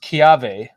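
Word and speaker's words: kiawe: W uh you if you but it's it's pronounced kave and it's basically it's the most beautiful it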